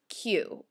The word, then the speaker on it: queue: very very late into the night nine is q and you just have to remember that it's pronounced Q because you have that extra uee